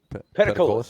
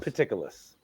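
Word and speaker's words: Peticolas: Am I saying that right? Pedicolis? Pedicolis. It is not pediculous. It's not pediculous? So I said it right. I am so happy I got that right. It's not pediculous brewing. It's particularly not pediculous.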